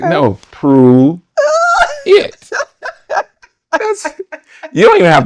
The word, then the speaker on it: Pruitt: Like okay, Pruitt, Pert, and Pert. Alan Pert. Oh, okay. Like no, Pruitt.